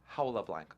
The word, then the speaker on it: Jaula Blanca: It's written that way, but it's pronounced Jaula Blanca.